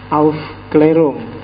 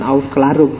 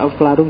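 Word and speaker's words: Aufklärung: titiknya dua di atas bahasa Jerman bacanya Auf klerung jadi nak bukan Auf karung tapi kamu baca Auf kelarung juga gak apa-apa ya lahah orang-or kan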